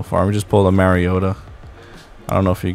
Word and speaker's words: Mariota: I think his mom said his name the correct way to say it's Mariota.